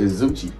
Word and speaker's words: Zoocci: how to pronounce it zuchi pronounced like Gucci somebody say Sushi I